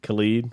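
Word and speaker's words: Khaled: his name Khalid Khalid Khalid rhymes with salad she had had a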